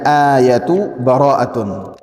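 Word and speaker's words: آيَةُ بَرَاءَةٌ: Wa minha, dan pelajaran yang berikutnya, ayatu bara'atun. Satu ayat dalam surat Bara'ah. Jadi bacanya ayatu bara'atun.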